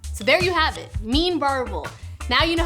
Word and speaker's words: Meen Varuval: in between bites so there you have it mean barbel now you know how to pronounce it make it and eat it you've